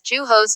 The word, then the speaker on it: Jose: And I often pronounced Jose as Juhos, so his name is now Jose. It's pronounced the way it's spelled just because that is more memorable to me.